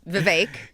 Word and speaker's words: Vivek: it's also Vivek ramaswamy it's Vivek is it though it is it you knew that 12 months ago I did not I had no idea yeah until I heard Glenn say it's pronounced like cake yeah yeah it's Glenn